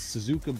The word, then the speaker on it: Suzuka: pay in the car is perfect this is Suzuka blue that's how you pronounce it the wheels are in perfect shape